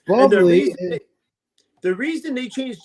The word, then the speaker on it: Bublé: So yeah, but Bublé is spelled Buble. Yes, bubbly.